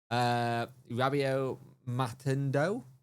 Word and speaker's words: Rabbi Matondo: and it's a Rangers player of all people, Rabbi Matondo, and that's how you say it.